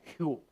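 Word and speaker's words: חול: And here, there is a word that's called, the Hebrew word is pronounced hul. And it means to tremble in respect.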